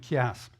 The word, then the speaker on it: chiasme: C-H se prononce comme Christ. D'accord? Donc, un chiasme.